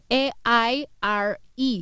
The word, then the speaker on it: Aire: his name is air air is pronounced air but it's spelled a-i-r-e he's air Webster now